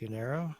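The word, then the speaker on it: Unyaro Bee Sting: I think it's pronounced Unero. How- Unayro.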